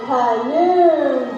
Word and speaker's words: Khnum: I am Khnum, that's K-H-N-U-M. The H is silent.